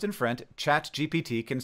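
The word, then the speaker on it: ChatGPT: French speakers right now because in French phonetically chat GPT sounds exactly like cat I farted sh everywhere on TV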